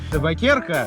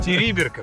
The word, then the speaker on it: Териберка: Табакерка? Териберка, правильно, произноси Териберка, нам сказал таксист, местные официанты, бармены.